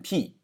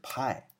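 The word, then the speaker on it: π: 这不念 p 啊，不念 p，它念的是派，这个代表近似的圆周率常量。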